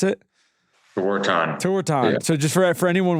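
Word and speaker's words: Tewaaraton: How do you pronounce it? Tewantin.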